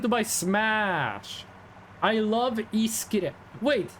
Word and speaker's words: iskrem: I love iskrem. Wait, iskrem. That is pretty much how you pronounce ice cream in Norwegian.